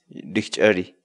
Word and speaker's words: rikch'ariy: series videos where we teach you how to pronounce certain words in Quechua so our word of the day for today is victory victory victory in English the Quechua word dick